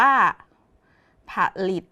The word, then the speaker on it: ผลิต: คำ ที่ 2 ค่ะ ผลิต อ่าน ว่า ผลิต มี 1 คำ แต่ ออก เสียง 2 ครั้ง คือ 2 พยางค์ นะ คะ เด็ก ๆ